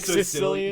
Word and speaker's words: caecilian: What, is it spelled like Sicilian? No, it starts with C. It's like no, it's like C-E, Sicilian.